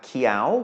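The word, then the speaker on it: เขียว: our first we have Qiao which means green is rising tone because of the high class consonant mid tone for a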